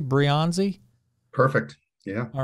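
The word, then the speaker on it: Breyanzi: that you you worked with the team that's brianzi briyanzi I'm pronouncing that correctly brionzi perfect yeah all right good um from you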